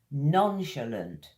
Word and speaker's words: nonchalant: Nonchalant. 3 syllables. Like a sh sound, sh, and lunt. Need to get your tongue curling a little bit for that one. Lunt. Tongue hits the roof of your mouth.